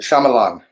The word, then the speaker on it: Shyamalan: It's pronounced Shyamalan.